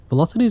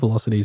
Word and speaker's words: VLocity: And yes, this isn't a typo, it's spelt like that with a capital VL for V-Line, I guess.